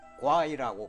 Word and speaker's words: 夬: 별로 쓰이지 않는 글자입니다 중국어로 와이라고 발음하는데 회의 생긴 모양으로 활을